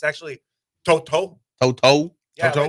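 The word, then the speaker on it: To'oto'o: where he said that people still say his name wrong? It's actually Toto.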